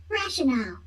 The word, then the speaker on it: rationale: I'm sorry, how do you pronounce that? Rationale.